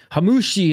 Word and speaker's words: Hammouche: Hammouche, that's how you pronounce it.